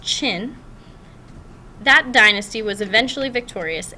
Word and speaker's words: Qin: the chin that this Qin n which is pronounced chin that dynasty was eventually Victorious and United China